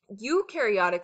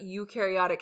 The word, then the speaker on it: eukaryotic: That's what eukaryotic has. So it rhymes with new, see you and new.